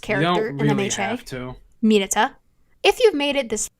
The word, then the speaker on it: Mineta: Well, is that how his name is pronounced in Japanese? No, it's Mineta.